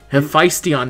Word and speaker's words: Hephaestion: Hephaestion.